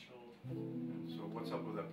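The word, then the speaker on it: Skjold: Schold. It's S-K-J-O-L-D. It looks weird, but it's pronounced Schold.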